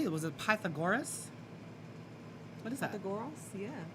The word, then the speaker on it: Pythagoras: Was it Pythagoras? What is that? Pythagoras? Yeah. Pythagoras.